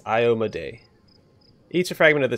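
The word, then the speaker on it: Iomedae: I keep forgetting it I looked up it the pronunciation by the person who created her and it's IO Maday each of fragment of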